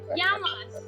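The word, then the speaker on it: Γειά μας: Yamas!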